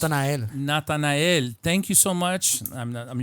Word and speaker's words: Natanael: Nathan, how do you pronounce Natanael. Natanael.